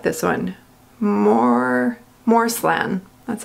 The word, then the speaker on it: Moreslan: take forever um I really like this one more more slim that's how you pronounce it and that's what the box looks